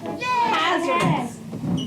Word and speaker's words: hazardous: Where's the accent mark, class? First syllable. Hazardous.